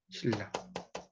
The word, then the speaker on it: 신라: 신나인데 신라라고 있잖아요. 그러니까 이거는 신나지만 여기에 리을이 있기 때문에 이것도 이제 리을로 발음을 한다는 거예요. 신라.